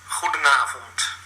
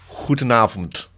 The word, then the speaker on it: Goedenavond: Goedenavond. Goedenavond. Goedenavond.